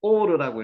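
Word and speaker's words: עור: 케토 긴 외투 케토 요게 오르라고 읽고요 오르가 가죽입니다 오르 여기 알렙이 들어가면 오르가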